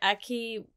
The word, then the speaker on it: Aki: how do you say his name a key Aki what what's this I did not write the